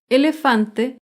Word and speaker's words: elefante: Elefante se acentúa en la penúltima sílaba, pero no lleva tilde porque termina en vocal.